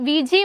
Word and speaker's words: Ouija: ആയിരുന്നു പ്രാദേശികമായി വിയാ board വിജി board ഓജോ board എന്നിങ്ങനെ പല പേരുകളിലും ഈ ബോർഡ് വിളിക്കപ്പെടാറുണ്ട് ബ്രിട്ടീഷ് ഇംഗ്ലീഷിൽ ഉച്ചാരണം വീജ എന്നും അമേരിക്കൻ ഇംഗ്ലീഷിൽ വിജി എന്നുമാണ് നമ്മുടെ നാട്ടിൽ പൊതുവേ ഓജോ